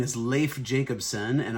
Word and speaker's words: Leif: My name is Leif Jacobson, and often people think it's Leif is how you pronounce my name.